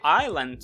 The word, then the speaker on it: Island: Island Сіті пам'ятайте що в слові Айленд слово as буква S не вимовляється і то ту-ту-ту-ту це